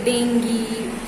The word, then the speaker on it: dengue: like chickenpox measles okay dengue so that you that's not called as jing that is dengue dengue that's pronounced as dengue okay which which is